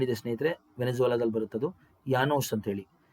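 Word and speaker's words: Llanos: ಸ್ನೇಹಿತರೆ ವೆನೆಸುವಲಾದಲ್ಲಿ ಬರುತ್ತೆ ಅದು ಯಾನೋಸ್ ಅಂತ ಹೇಳಿ ಸ್ಪೆಲ್ಲಿಂಗ್ ಡಬಲ್ ಎಲ್ ಬರುತ್ತೆ ಆದರೆ ಸ್ಪಾನಿಷ್ ನಲ್ಲಿ ಉಚ್ಚಾರಣೆ ಮಾಡಬೇಕಾದರೆ ಯಾನೋ ಅಂತ ಹೇಳಿ ಕರೀಬೇಕು ಡಬಲ್ ಎಲ್ ಬಂದ್ರೆ ಯ ಯಾನೋಸ್ ಆಯ್ತಾ ಹಂಗೆ ಸ್ಪಾನಿಷ್ ಪದಗಳಿದೆ ಸ್ನೇಹಿತರೆ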